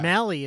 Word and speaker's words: Mellie: name's uh mellie yeah mellie is her name uh because daniel craig's character says oh that rhymes with smelly yeah which i thought